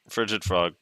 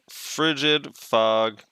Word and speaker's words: Frigid Fog: Frigid Frog. Frigid Fog. Also, I notice a lot of people say Frigid Frog when they're trying to say it too quickly.